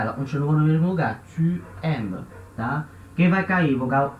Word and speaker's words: tu aimes: Não vai acontecer a queda da letra U, tá? Não vai ficar t'aimes, tá? Não vai cair o U, tá? Vai continuar tu aimes, tá?